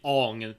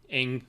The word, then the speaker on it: Aang: One thing positive about the show, they actually pronounce the character's name right. They don't say Ong and that shit. Anyway, we see Aang learn that he's the